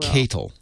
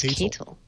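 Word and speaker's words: katal: It's pronounced catal. Oh, it's catal.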